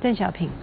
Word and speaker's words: Deng Xiaoping: How do you pronounce in Chinese Deng Yes, Xiaoping? Deng Xiaoping.